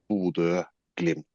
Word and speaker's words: Bodø/Glimt: Oh, you're very close. It's border glimp.